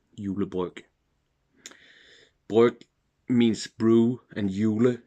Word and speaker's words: julebryg: So this will probably be the first and last Tuborg julebryg I will have this year, because that's how you say it in Danish, julebryg.